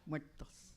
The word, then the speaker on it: muertos: Muertos.